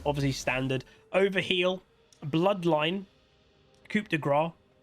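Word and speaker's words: coup de grâce: standard over heel bloodline Coupe DeGraw or Coupe De Grace if the southern people pronounce it that way which is I think is wrong and then magical Footwear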